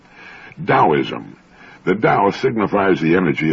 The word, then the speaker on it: Taoism: that's spelled t AO i m and often mispronounced taoism Daoism the Dao signifies the energy of the universe